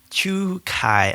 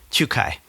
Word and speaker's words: Czukay: Uh Chu Kai, I think is how he says it. It's it's a Polish name, but it's I guess pronounced in a Germanic way cuz he's of Polish descent apparently, but German.